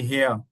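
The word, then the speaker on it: Herr: आप है man masculine है तो आप कहेंगे हया हया शरोज़ हया अतीक अगर है कोई फीमेल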